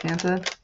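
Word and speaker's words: ファンタ: feels a little weird calling it font instead of fanta but I do know that's how they would call it over in Japan like I'm positive that's how they say it okay I have no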